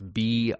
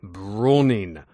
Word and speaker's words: Brauning: It's B-R-A-U-N-I-N-G. Brauning. Brauning. I'm not sure the right way to pronounce that. I'm 41 years old, still trying to figure out my last name. But it's Brauning.